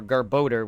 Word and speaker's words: Garbodor: Trubbish and Garbodor, or Garbodor, which is his actual pronunciation, because it's garbage and odor, are the Generation 5 trash Pokemon.